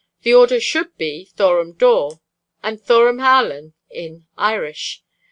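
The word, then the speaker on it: dŵr: If, then, they be read Dor Dorum and Algain Dorum, Dor and Algain are nearly Dur, or, as is pronounced, Dor, and Halen, the Welsh words for water and salt respectively.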